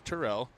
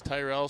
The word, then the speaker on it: Terrell: I just found out the actual pronunciation is Terrell. Brent told me I had to ask. I thought Delaney was just being a nut when she bulldozed over by dump rope when Delaney was saying Terrell. But he said everybody just says Tyrell, so he never corrects him, but it's Terrell.